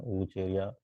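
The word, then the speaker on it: Vaucheria: इसके अलावा वाउचेरिया, ये भी आपके सिलेबस में है, वाउचेरिया, ठीक है, वूचेरिया, तो भी इसमें अपन प्रोनाउंसिएशन यूज लेते हैं, वूचेरिया।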